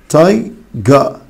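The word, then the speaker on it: tiger: تايجر تايجا تايجا تايجا طبعا بريتش يا حبايبي في النطق البريتش ما بينطقوش حرف الار فتبقى تايجا تايجا تبقى 4 شكله بالظبط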